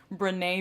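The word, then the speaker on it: Brené: you really are interested her name is renee brown and her first name is spelled b-r-e-n-e and she has a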